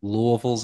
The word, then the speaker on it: Louisville: as big anymore and Louisville's airport we say Louisville not Louisville but just put marbles in your mouth and try to say it and then then you'll say it right um but I don't